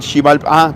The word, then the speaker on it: Xibalbá: Exacto, el Xibalbá, para los mayas, así pronunciado en maya.